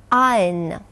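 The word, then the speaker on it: iron: Дело в том, что звук «р» в данном слове никогда не произносится. И слово произносится следующим образом. Ein, fire, tire. Обратите, пожалуйста, внимание на слово «ein». В английском языке у него есть два основных значения. Это «железо» и «утюг». Итак, это слово произносится в современном английском языке именно как ein.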